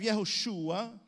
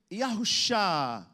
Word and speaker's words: Yahushua: tradition handed down that we pronounce this in a different way uh we have yahushua but there were elders and older folk that would say yahusha yahusha and i always thought